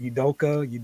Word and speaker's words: Udoka: Udoka. Ime Udoka. Udoka. Exactly how it's spelled.